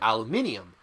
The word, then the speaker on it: aluminium: but I know that some people pronounce it aluminium specifically British people I know speak it